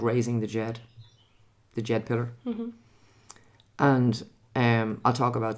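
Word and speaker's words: Djed: And raising the Jed means pulling the Jed up from that tilted angle back up to an upright position. Jed is spelled D-J-E-D.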